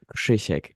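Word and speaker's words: Krzysiek: from Poland I just you pronounce it like kishek yeah I know it's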